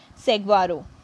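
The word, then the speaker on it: saguaro: protect करते हैं तू ए आर ओ it's pronounce S segaro ठीक है कैसा होता है लंबा होता है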